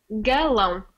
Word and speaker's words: galão: How do I pronounce that? Galão.